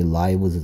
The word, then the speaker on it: lives: 삶이란 뜻의 life의 복수형이니까 life 할때 I의 발음이 I 발음이고 프 소리로 끝나는 명사의 복수형은 프 소리 나는 부분을 브 소리 나게 바꾼 다음 s를 붙이니까 얘는 그래서 발음이 lives 되는 거죠.